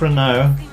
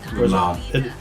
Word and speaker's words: Renard: Jacques Renaud, is that how it's said? Renaud? Renard.